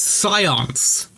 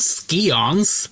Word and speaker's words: Scions: Scions. It's Scions. It's not Skons.